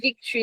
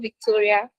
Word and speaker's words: Victory: The correct pronunciation of my name is Victory, not Victoria.